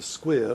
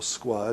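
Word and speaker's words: Squier: status they then use the square or Squire depending how you want to pronounce it as the if you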